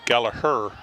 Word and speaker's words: Gallagher: so kennedy's coached by said maureen gallagher but they're pronouncing it gallaher a couple years ago